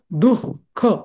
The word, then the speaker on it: दुःख: विसर्ग लिहिला जातो जस दुख आपण अस दुख असं म्हणतो का? नाही आपण कसं म्हणतो दुःख दुःख असं तसं ठीक